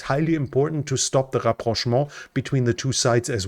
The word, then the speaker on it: rapprochement: I think it's in English it's pronounced rapprochement between the Arabs and Israel.